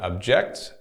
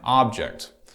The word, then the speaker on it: object: So here, object and object. To object and object have the exact same spelling, but a different stress.